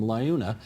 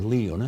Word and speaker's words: LiUNA: or the construction workers from Liuna, or Leuna, however they pronounce it? Yeah. They pronounce it both ways, actually.